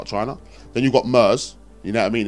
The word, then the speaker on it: MERS: Yeah, but so Mars basically it's actually not called Mars. It's called MERS. Sorry, I said it wrong.